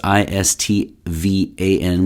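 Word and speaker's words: István: is by istephan so it's i-s-t-v-a-n with an accent on the a so like istvan aigna so he aigna is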